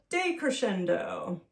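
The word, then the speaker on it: decrescendo: ending is softer so this one is called a day Crescendo when you see day on the beginning of something it often means the opposite of so day d e Crescendo c r e s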